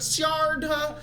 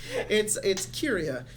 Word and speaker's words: Kyria: It is pronounced Kyria. It's not Sharda. It's it's Kyria because it's Gaelic, and yep.